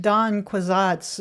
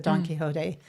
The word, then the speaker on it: Don Quixote: I think I said Don Quixote's a very long time before I said Don Quixote.